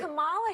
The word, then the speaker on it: Kamala: actually So pronounce her name And right. Kamala Harris, if I Kamala, were a man, Kamala.